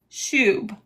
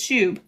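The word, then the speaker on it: שוב: the Hebrew word shube. I did look it up. That is how you say it. It is like tube, but it's shube.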